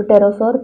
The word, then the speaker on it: pterosaur: P in this is silent. So pterosaur, previously known only to the northern hemisphere.